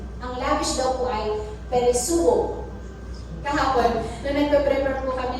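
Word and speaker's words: περισσεύω: Ang lavish daw po ay peresuo. Kahapon, nung nagpe-prepare po kami ng lesson, natinig ni Daddy David, asama si David, peresuo. Peresuo, pati siya peresuo. Kasi kung inaalam ko paano po ito bigkasin. Peresuo.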